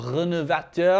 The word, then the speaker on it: Renovateur: The 3rd best leather conditioner on the market is Phears Renovator, or Renovateur, if I'm going to be pronouncing that technically correctly.